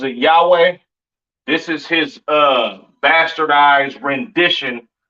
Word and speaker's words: Yahweh: There's no A sound in the Hebrew, all right? The characters are I, Ba, Ga, Da, Ha, Wah, so forth and so on, right? So the Lord's name is Yahweh, not Yahuwah, or not Yahweh, all right? Yahweh.